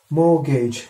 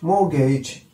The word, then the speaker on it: mortgage: Obara ma Ovid personal number three more gage mortgage mortgage well there was a link of mortgage mortgage